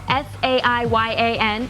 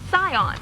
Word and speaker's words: Saiyan: to the scion matter when you romanize japanese something spelled s-a-i-y-a-n is pronounced scion now for some reason